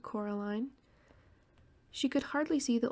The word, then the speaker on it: Coraline: they get things wrong they got your name wrong you know they kept saying coraline not caroline not caroline at all he picked up a